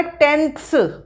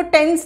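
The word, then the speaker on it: tenths: अब decimal point के फिर राइट साइड पे आएगा टेंथ्स. स्पेलिंग चेक करिए आप, इसको टेंस नहीं बोलेंगे, THS, टेंथ्स, हंड्रेड्स, थाउजेंड्स, ठीक है.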